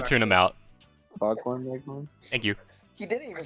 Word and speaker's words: Foghorn Leghorn: It's like Longhorn Leghorn. Fucking, I said his name wrong, but it's like It was like, that was very just nice learn to back tune him then. out. Foghorn Leghorn.